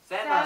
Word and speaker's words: salmon: salmon. salmon. L발음 안 납니다.